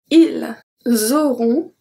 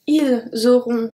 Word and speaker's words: ils auront: And ils auront, elles auront, pronounced exactly the same. So we don't pronounce the S, we don't pronounce the T, and then we have the links.